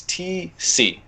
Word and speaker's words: Tecce: My last name is Tecce. It's spelled Tecce, but pronunciation, it's like a letter T and a letter C.